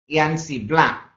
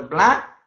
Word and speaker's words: blanc: Let's start with one which is says BLANC, blanc, which is pronounced as a blanc, which means white.